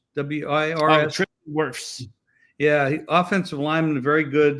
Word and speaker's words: Wirfs: How do you pronounce his name? Wirfs? W-I-R-S? Wirfs.